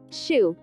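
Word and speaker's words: xu: the six sounds are shu pronounced like shish with a deep sigh which is associated with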